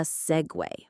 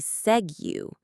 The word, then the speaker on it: segue: It's spelled S-E-G-U-E. It looks like it should be segue, but it's pronounced segue, just like a transportation device.